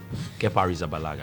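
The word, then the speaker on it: Arrizabalaga: mention his full name oh yeah Kea arala kear zabala yes is that how it's pronounced yes that his name aragaaga yes when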